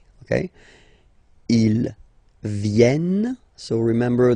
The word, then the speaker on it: viennent: Ils viennent, so remember this classic ending ENT for the third person of the plural is here, but phonetically it doesn't exist, so you don't pronounce it.